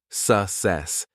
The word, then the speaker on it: success: success. The stress is on the second syllable.